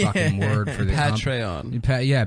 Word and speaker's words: Patreon: patreon P I said I used to call it Petron like General petray P guy sucking and that's how I thought you pronounced it and then somebody